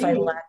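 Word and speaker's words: Phytolacca: So I always think of phyto, like fly, I don't know. I have all these crazy ways of remembering stuff. So it rhymes with fly.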